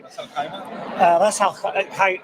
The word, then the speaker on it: Ras Al Khaimah: Ras Al Khaimah.